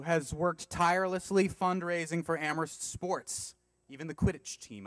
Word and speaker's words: Amherst: am Heros am Heroes I know the H is silent I can't we'll figure it out a doctor who has worked tirelessly fundraising for amorist sports even the Quidditch